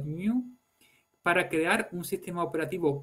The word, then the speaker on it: GNU: en lo que llamó el proyecto GNU, habitualmente pronunciado GNU, para crear un sistema operativo completo 100% libre.